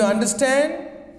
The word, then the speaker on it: understand: For compound verbs, stress is on second part. See, for example, understand. Do you understand what I am saying?